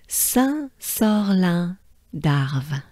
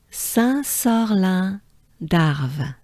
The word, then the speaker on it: Saint-Sorlin d'Arves: You do really, just don't look at the spelling of French names and words and basically the French language, right? It is not, it doesn't sound the way it's spelled, right?